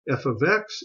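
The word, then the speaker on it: f(x): 3x minus 2 can also be written as f of X equal 3x minus 2 this is called function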